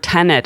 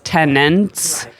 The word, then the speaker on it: tenet: well it's funny because some of us were pronouncing the word tenet as tenants the thirteenth tenant was